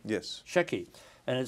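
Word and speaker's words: Sheki: a uh a little uh town is it pronounced Shey yes Shey and it says here uh a true travel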